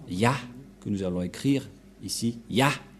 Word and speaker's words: Yah: vais mettre en bas sa prononciation C et l'autre se lit à H je vais expliquer simplement et lorsque on va regrouper à la normale ça se transforme en ya que nous allons écrire